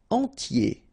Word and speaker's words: entier: Entier. So remember, I-E-R, I-E, okay, and then the T, tier, and the nasal before, en, entier.